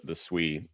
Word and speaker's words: Sui: More and more people are saying Sui because that's how it's pronounced.